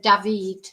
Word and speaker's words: D4vd: And she's seen she definitely got involved with this singer, this uh Davided or David. That's how it's it's spelled in a ridiculous way, but that's what his name is now.